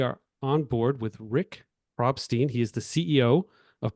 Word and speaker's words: Probstein: largest Oh, sellers or It's Probstein, just so. Probstein. Oh my goodness. If Thank I you, if I had a nickel for every time it's mispronounced, but it's Probstein. Probstein.